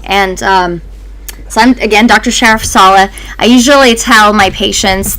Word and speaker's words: Sharafsaleh: Sharafsaleh. I usually tell my patients the way to pronounce that sounds like the sheriff's office and then salad without a D. So Sharafsaleh, it's close enough.